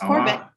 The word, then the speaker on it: Corbett: and i am super pleased to have corbett and that's how you say your last name right corbett yeah it's corbin all right awesome i sometimes i forget to